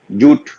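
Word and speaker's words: jute: जैसे जोशीले 4, पहला ज है, ध्वनि का मतलब लेटर से मतलब नहीं है, ज, तो जे यू टी हम क्या कहते हैं, जूट, ऊ उच्चारण है।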